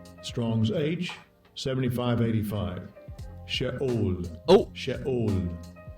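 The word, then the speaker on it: Sheol: Let's hear how it's pronounced. Strong's age 7585. Shaol.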